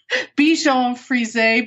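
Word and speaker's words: Bichon Freeze: It's called Bichon Frise, but it's spelled Bichon F-R-E-E-Z-E. I just love the do-it-yourself punk scene, and that is just so perfect.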